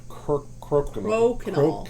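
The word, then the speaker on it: Crokinole: Crokinol. That's how I pronounce it.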